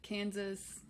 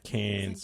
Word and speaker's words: Cairns: Oh wait, Kansas. Cairns. That's Cairns. Okay. Yeah, Cairns. Kansas, interesting. It's spelled Cairns, but you got to say it like you're gargling on drought.